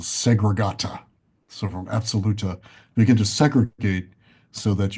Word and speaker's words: Absoluta: And the term space potency has a name, and the name for it is absoluta. Absoluta. How do you This is spell that? as the word absolute, ABSOL, absoluta.